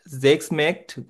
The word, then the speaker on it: Schmeckt: হুম হুম, Oft schmeckt gut und ist gesund. এটা কি হবে ভাইয়া? এটা হচ্ছে আহ, এটা হচ্ছে স্ম্যাকড। হ্যাঁ, Schmeckt.